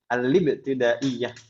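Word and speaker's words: الابتدائية: Al-libtidaiyah. Karena di sana hamzahnya wasal, kita bacanya seperti itu.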